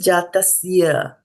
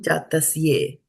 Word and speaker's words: जातस्य: So this one is jātasya and not jātasye. Okay, jātasya because it's a A. So it ends in A, right?